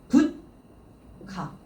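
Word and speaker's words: 物価: 부츠리 원래 부츠라고 읽어야 되는데 지금 발음 한번 보시겠어요? 뒤쪽에 카행이 붙었죠. 카 얘가 붙다 보니까 지금 발음이 어떻게 바뀌었어요? 붓카 이렇게 초금으로 바뀌었죠.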